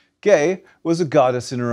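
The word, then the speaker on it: Gaia: conceived in the earth gay with a hard g in greek but in english we pronounce a g followed by e as g as in geology geography geothermal gay was a goddess in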